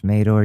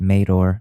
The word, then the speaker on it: Madore: I'm Mador. You can follow me at Alex_Madore on Twitter. It's pronounced Mador. I know a lot of people don't get that right, but it's Mador.